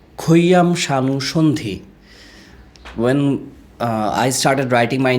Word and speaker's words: Khayam Sanu Sandhi: My father put this spelling for me, but it pronounced in Bangla, Khayam Sanu Sandhi.